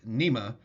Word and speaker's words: NMEA: NMEA, pronounced NEMA, has two communication protocols or two communication systems that they use aboard commercial and recreational vessels.